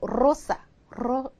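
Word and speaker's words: rosa: 때만 되느냐 그렇지 않고요이이 레가 단어 맨 앞에 올 때도 똑같이 르르하고 똑같이 발음해 주셔야 돼요 그니까 예를 들면 이런 거요 이게 장미라는 뜻이거든요 이것도 로사로 로사 로사 로사 해 주셔야 된다는 거죠 그냥 단어 그냥 평이한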